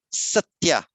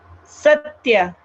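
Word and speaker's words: सत्य: Well, Ashina, can you go back and just pronounce the word satya again? Satya. Satya. Yeah. It is almost not a double, but it is. There is something there.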